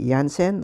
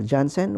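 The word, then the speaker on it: Janssen: your own expense fortunately i got my jansen or johnson whichever pronunciation you'd like it's it's no problem both are correct and bermuda recognized the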